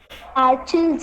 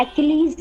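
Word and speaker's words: Achilles: एक सेकंड, नहीं नहीं नहीं, इसका प्रोनाउंस है, उसका नाम ना ऐसा लगेगा आपको समझ में जैसे आर्चिल्स है, लेकिन उसका प्रोनाउंसिएशन एक्लीज है।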